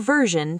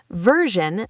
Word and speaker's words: version: I will send the final version today. Deep dive final. Stress the fi version. The si makes a sound like pleasure. Version.